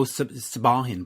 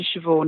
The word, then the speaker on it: Siobhan: Siobhan Fahey. See, I'm Canadian. I go Sabahin, but that's not how you pronounce it.